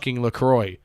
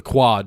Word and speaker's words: LaCroix: all the time it's not lacroix white soccer moms and kroger it's the quad just because you don't want you're not french